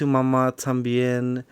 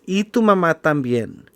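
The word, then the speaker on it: Y tu mamá también: it it's okay so i'm going to say it correctly because i've heard people say it's ambien no it's itu matambien now it's directed by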